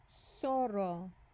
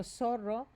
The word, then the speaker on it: zorro: Zorro. Zorro. Okay, so you might have thought, sounds like the letter S. S. But it just happens not to be, okay? That would have been a logical choice.